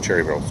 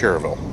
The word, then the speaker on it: Cherryville: So I'm in Cherryville. It's actually not pronounced Cherryville. It's Cherryville, North Carolina.